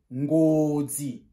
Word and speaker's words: Ngozi: On prononce Ngozi.